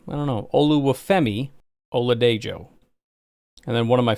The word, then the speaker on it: Oladejo: But it is pronounced Oluwafemi Oladejo. Apparently you pronounce the J. I don't know. Oluwafemi Oladejo.